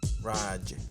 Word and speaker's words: Raj: You said it wrong. So how do you say it? Raj. Raj. Yeah. We'll have to ask you. Watch me be fucking wrong. Yeah, you're gonna be wrong because it's Raj.